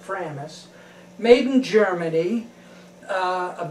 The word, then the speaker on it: Framus: is a 1970 uh framis or framus i pronounce it framis made in germany uh